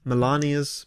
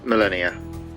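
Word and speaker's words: Malenia: I didn't realise it's not pronounced Melania like Donald Trump's wife, it's Millennia.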